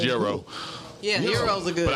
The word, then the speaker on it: gyro: I think this actually pronounced gyro. Yeah, heroes are good. But I just call them gyros because everybody else calls them gyros.